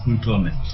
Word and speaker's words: Kuutuome: Kuutuome. Did I pronounce that well? Well, that's it. It's Kuutuome. Kuutuome.